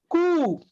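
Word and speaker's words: coup: o u p and c o u is pronounced cool can you believe it can you believe it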